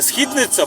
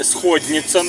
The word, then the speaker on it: Східниця: Карпат якраз находиться музей а Східниця правильна вимова не Східниця і не сходніца російській мові а Східниця люди які залишились живими